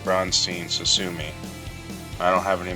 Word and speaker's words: Braunstein: the 17th century called brunstein or brunin depends on how you're going to pronounce it but I pronounce it bronstein susumi I don't have